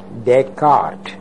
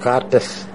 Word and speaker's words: Descartes: The question philosophically became rather clear with René Descartes. You know that name? D-E-S-C-A-R-T-E-S. How do you pronounce that? Descartes. Not Cartes.